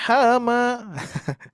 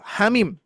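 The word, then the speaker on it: حم: Nah, ini pun juga dibaca hama ya bagi yang belum pernah belajar huruful muqatta'ah dibacanya hama. Kalau hama itu ya itu ya yang ada di sawah tuh. Hama ya. Yuk, hamim. Siap. Hanya 2 harakat, bimnya 6 harakat.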